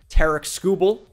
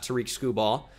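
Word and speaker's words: Tarik Skubal: on the trade block Tarik skubel it is pronounced exactly like that by the way not Tariq school ball Tara scubal could be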